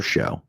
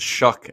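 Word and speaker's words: Shough: But you're talking about taking 26-year-old Tyler Show, or Shao, however the hell you say it. It's Shuck, actually. Shuck. Perfect. Yeah. 26-year-old Tyler Shuck. Yuck. That's perfect. Rhymes with yuck.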